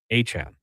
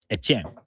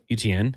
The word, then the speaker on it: Etienne: he tells everyone his last name is actually pronounced Achane. Achane. So it's not Devon Achane, it's Travis Achane Jr. So you you kind of talked about it from Louisiana. Etienne, Achane.